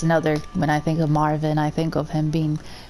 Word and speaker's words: Marvin: And then we have Marvin, or Marwin. No, it's Marvin.